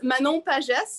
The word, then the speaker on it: Manon Pages: I think it's pretty good actually, but it's Manon Pages.